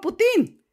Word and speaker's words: Putin: Si yo decido españolizarlo y decir Putin, toda palabra aguda terminada en vocal N o S se acentúa, entonces por lo tanto yo le pongo la tilde y digo Putin.